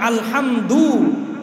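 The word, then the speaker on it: الحمد: উনি একবার এক বয়ান করছিলেন, শুধু এই আসসালামু মিমের পেশ ভালো করে উচ্চারণ করা, আরেকটা হলো আলহামদু, আলহামদু শব্দের দাল পেশ দু, এটা ভালো করে উচ্চারণ করা।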